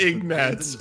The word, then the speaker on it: Ignatz: Sorry, I forgot that his name is fucking pronounced Ignatz, which has that same sort of mouthfeel as Zolbag.